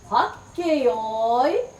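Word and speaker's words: はっけよい: Say it like this. Hakkeyoi. Nokotta, nokotta.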